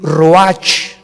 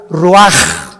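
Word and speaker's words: רוח: 29 del mismo capítulo y exhaló Isaac el Roach así como suena se pronuncia la ciah en hebreo como J Roach se les halló y se traduce espíritu y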